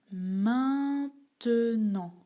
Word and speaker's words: maintenant: Maintenant. Maintenant. Ici aussi, on ne prononce pas le T.